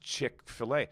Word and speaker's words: Chick-fil-A: i got your upload the other day it's pronounced chick-fil-a so why the don't they